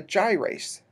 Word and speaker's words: gyrase: it's a little different and it's called a gyrase I'll go and spell that because it's not in your book it's